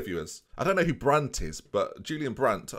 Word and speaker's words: Brandt: I don't know who Brandt is but Julian Brandt I don't know Brandt I thought like I said it wrong but it is brand isn't it that's how if we